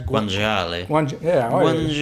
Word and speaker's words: guanciale: How do you pronounce guanciale?